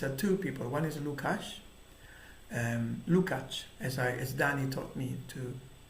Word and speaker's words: Lukács: But the point that some people make, and these are two people, one is Lukács, as Danny taught me to the pronunciation.